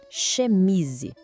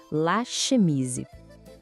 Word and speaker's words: chemise: Aquele som de sh, de pedir silêncio. Vamos tentar? Chemise. Isso. Mais uma vez, para fixar. La chemise.